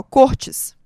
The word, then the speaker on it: Cortes: nome dele descobri que pronuncia assim, ó, Cortes, tá? O acento, na verdade, é do outro lado.